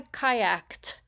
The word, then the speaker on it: kayaked: If you're listening carefully, you can hear that the pronunciation of kayaked actually sounds like a T sound. So, the voiceless pronunciation of this fun example sentence is, "Yesterday, I kayaked with my dog."